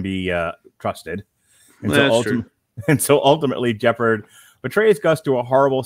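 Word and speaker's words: Jepperd: So Jeppard, which rhymes with leopard.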